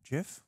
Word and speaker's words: GIF: Is it GIF? GIF? What's yeah. What yeah. How do you say it? GIF? GIF? It's graphic, so GIF, but I think they said that it's GIF.